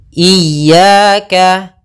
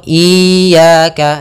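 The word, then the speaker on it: إياك: iaka n kita ulang iyaka iyaka ada dua kesalahan yang sering terjadi dalam pelafalan iyaka yang pertama memanjangkan I memanjangkan memanjangkan I apabila dipanjangkan huruf i-nya banyak contoh iyaka salah karena dia memanjangkan yang kedua adalah menahan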